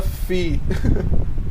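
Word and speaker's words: FEE: foundation for economic education se fala Fi é isso exato Ah não sabia não que era assim que se pronunciava você achava que era fe e é f i i não não F tipo taxa Ah legal ah não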